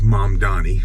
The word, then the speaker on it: Mamdani: Actually, I've been mispronouncing his name incorrectly, so I think that's always disrespectful, so I'm not one of those people. His name is Zohran. I was saying Zohran. And it's Mom Donnie.